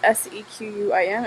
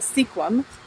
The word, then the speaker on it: Sequim: If you look at the word, it actually is spelled S-E-Q-U-I-M, and a lot of people call it Sequim, but it is called Sequim. So if you're ever in this area, don't make the mistake of calling it Sequim.